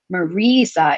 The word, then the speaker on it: Marisa: name is spelled m-r-i-m-a-r-i-s-a and it sounds like marisa it should have two e's in the middle so she knew from